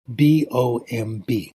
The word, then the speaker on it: bomb: Let's say I write out the word B-O-M-B, bomb, okay? You know how the first B is sounded out. It's pronounced B, correct? Okay. What about the second B? It's silent. You don't pronounce it.